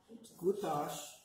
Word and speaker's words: Gutash: You don't pronounce the end. Gutash.